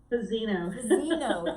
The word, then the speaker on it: Fazzino: I keep saying it wrong in my head. Fazzino, thank you. I'm getting the A and the I mixed up, and I do it every time.